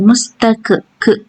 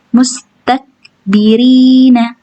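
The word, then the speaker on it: مُسْتَكْبِرِينَ: Enggak boleh pantul ya, bukan mustak. Jangan mustak ke, enggak boleh kayak gitu ya. Karena huruf kaf enggak boleh mantul, bukan huruf qalqalah. Jadi, cara bacanya hanya keluar anginnya aja. mustakbirina mustakbirina mustak tak takbirina yang keluar hanya angin bukan pantulan ti kita ulang lagi.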